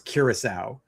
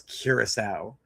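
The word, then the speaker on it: Curaçao: Honest to God, how are you a grown man and cannot pronounce Kiraasau? The accent is on the sea there. It's basic English and you cannot pronounce Ciraau and Maced Macedonia.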